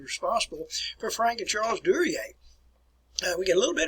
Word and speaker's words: Duryea: The name is pronounced Duryea.